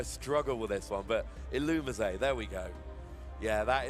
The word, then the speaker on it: Illumise: It's something along the lines of Illumise, or kind of like Illuminate. I say Illumise. Yeah. Let's see how it's... Illumise.